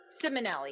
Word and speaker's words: Simonelli: I have Simonelli. Am I pronouncing that right? And Jason Nappi here following up. Simonelli, yes. I always say it wrong.